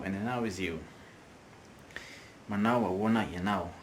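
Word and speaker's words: ahoana: Next word, awana, which is translated to how. In fast speech, we say auna, auna, okay?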